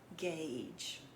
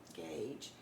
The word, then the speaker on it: gauge: here what about that gauge gauge tricky spelling in this word just because of the U is silent two vowels go walking